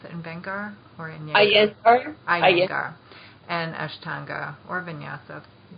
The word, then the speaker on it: Iyengar: compare a little bit between how do you pronounce it, Iyengar or Iyengar? Iyengar.